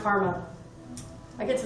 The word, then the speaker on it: CCRMA: so it's ccrna is the acronym and it's pronounced karma i get to say i work for karma